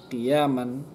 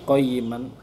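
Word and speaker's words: قَيِّمًا: Qiyaman artinya qayyiman, qiyaman millata Ibrahim. Kalau misalnya di Kufi atau Syam itu qayyiman kalau nggak salah memakainya. Jadi dua-duanya juga sama-sama benar cara bacanya.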